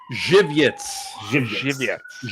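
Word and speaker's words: Żywiec: Jiviets. Right. That's how to pronounce it. Jiviets. Yes. Kind of rhymes with giblets.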